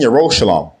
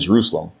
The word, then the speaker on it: Yerushalayim: In Mount Seon and in Yerushalayim, which are mispronounced as Zion and Jerusalem, will be deliverance, as Yahweh has said.